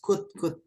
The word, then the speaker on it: could: Bacanya could ya guys, could. Jadi bacanya tuh kayak gini nih. Could. Nah, gimana guys? Could. Could. Nah, nice. O-nya nggak usah dibaca, L-nya nggak usah dibaca. Jadi bukan could, gitu, tapi could.